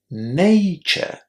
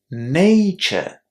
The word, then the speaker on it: nature: First of all, the first syllable is pronounced with the a sound.